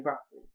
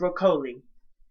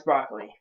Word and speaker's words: Broccoli: Yes, that's how you pronounce his last name, Broccoli. I thought it's Broccoli. But no, it's Broccoli.